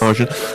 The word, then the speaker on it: Argent: Am I pronouncing that right? Yes. Argent.